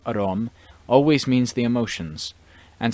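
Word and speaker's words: อารมณ์: In the Thai language, the word aramana, pronounced arom, always means the emotions, and sometimes in this book it also means the emotions.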